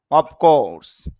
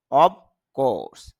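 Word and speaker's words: of course: অফকোর্স, যদিও আমরা এটাকে অফ মানে ফর মতো বলি, আসলে অর পরে যদি একটি অ্যাপ আসে তখন এই অ্যাপের উচ্চারণটা ফ না হয়ে ভ হয়ে যাবে।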